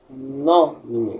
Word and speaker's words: nomine: Veja, aqui em nomine nós encontramos dois acentos. Encontramos primeiro no mi e depois no tris. Esse acento aqui é a braquia, tá bem? A braquia, ela é utilizada quando ela nos indica que a sílaba tônica é anterior. A sílaba tônica anterior a ela. Ou seja, se a braquia está aqui no mi, perceba então que a sílaba tônica será nomine.